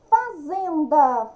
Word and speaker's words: fazenda: fazenda. Fazenda no zen, tá? É paroxítona, número 2.